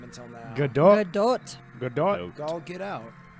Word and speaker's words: Gadot: Please welcome Gal Gadot and Armie Hammer. Yes. I never knew how to say her last name until now. Godot.